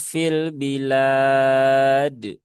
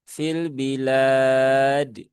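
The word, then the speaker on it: في البلاد: Dan ingat jangan sampai berlebihan sehingga seolah-olah menambah huruf hamzah di belakang huruf dal. Nah, itu tidak diperbolehkan. misalkan menjadi fil bilad. Nah, ada dennya. Nah, karena beberapa masih membaca seperti itu dan ini adalah cara baca yang kurang kurang tepat. Maka ya hindari jangan dipraktikkan lagi. Nah, seperti itu. Jadi cukup dengan fil bilad fil bilad.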